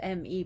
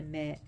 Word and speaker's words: me: And the me, which is spelled M-E but pronounced me, was originally Enki's.